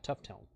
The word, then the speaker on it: Tufteln: in the video he sent me but yeah tough tone that's kind of wild Cascadia uh g90 plus